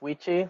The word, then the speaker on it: Wichi: My name is Wichi, like Quichi with a W, Artu, pronounce he, him, his.